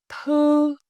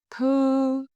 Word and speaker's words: thư: Notice how your lip change each time. Rounded for u, flat for ư.